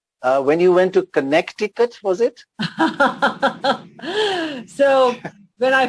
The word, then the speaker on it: Connecticut: explain something to you connecticut is not called connecticut it's connecticut and that's how it's pronounced he made me repeat it a few